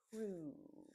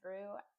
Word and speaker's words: through: Be careful with the pronunciation of through. Everyone seems to get this wrong. I don't know why. Not everyone, but it's a very common mistake. I'm going to say it again. Through, okay? Write that down, practice that. Through. It actually just sounds like THRU, through, but yeah, it's not.